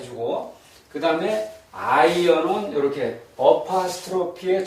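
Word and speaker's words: עין: 그래서 두 가지 예외는 이제 알렙 알렙하고이 아이언요 두 글자 히브리어에서 두 글자는 묵음입니다. 소리가 없습니다.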